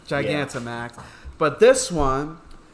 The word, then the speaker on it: Gigantamax: I always pronounce that wrong. Gigantamax.